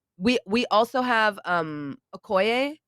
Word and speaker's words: Okoye: just like one we we also have um Okoye right yeah is that I say her name